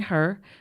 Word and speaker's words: Herr: And you can call me, and it's Herr auf Deutsch.